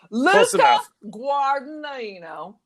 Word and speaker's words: Luca Guadagnino: So the reimagining Luca Guadagnino, which I've just mispronounced it, but I don't care. Luca Guadagnino.